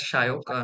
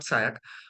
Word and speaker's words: Sayak: So basically, my name is also pronounced as Shayok, not Sayak. Yeah, In the Bengali the use of O is more than the other dialects.